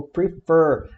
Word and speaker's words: prefer: Então a gente tem o verbo prefer, a gente fala prefer e não prefer. Prefer, a sílaba tônica é a fer, é a última e ela é sanduíche de vogal, ó, CVC, R, E, F, né?